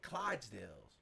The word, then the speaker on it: Clydesdale: And in the middle, it's like 4 police cars, 2 police vans, like the transport ones, and those big Clydesdales or how do you pronounce it?